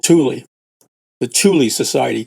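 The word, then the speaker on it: Thule: Tuli as in T Hu L E.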